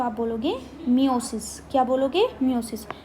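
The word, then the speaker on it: meiosis: ठीक है, इस प्रोसेस को आप बोलोगे मियोसिस। क्या बोलोगे, मियोसिस। दोनों के नाम आपको सेम रख रहे होंगे, लेकिन प्रोनाउंसिएशन बिल्कुल अलग है, ई का फ़र्क है, आई का फ़र्क है, माइटोसिस एंड द मियोसिस।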